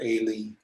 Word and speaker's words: Eli: on the altar by eli or aylie perhaps you pronounce his name was as atoning